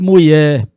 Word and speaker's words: mulher: desse questionamento da mulher cuidado não pronunciar mulher mulher reforça no r e no LH Tá bom vamos que vamos